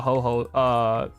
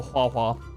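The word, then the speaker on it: Huohuo: Ooh, I'm actually glad Ho-Ho, not Ho-Ho, Hua-Hua. That's how you pronounce it.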